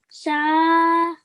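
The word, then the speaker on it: ث: Yeah, so we're going to take the tip of our tongue and we're going to touch it to our top two teeth, okay?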